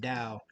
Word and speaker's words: TAO: were talking about the Dow coin I know it says it's spelled t a o but it's actually pronounced Dow and this is one